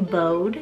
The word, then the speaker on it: Bode: onto the boy's side i have the name bode spelled b-o-d-e this one's really cool it's a